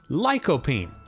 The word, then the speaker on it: lycopene: question my friends what is lycopene it is pronounced ly co bean lycopene lycopene is found in many many fruits and